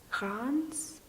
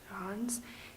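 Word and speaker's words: Reims: in France called Cron's I hope that I'm getting this right I had a lot of difficulty saying it even then but if you want to spell it it's our e IMS I think Ron's so I was visiting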